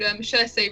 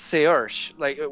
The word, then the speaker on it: Saoirse: So I think it's Saoirse, with an SH sound at the end, but even though there's no H in there.